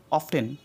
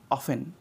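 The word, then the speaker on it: often: শুধ যদিও তো এখানে উচ্চারণ করে অফটেন অফটেন কিন্তু এটা ভুল এখানে উচ্চারণ করতে অফেন অফেন okay next D silent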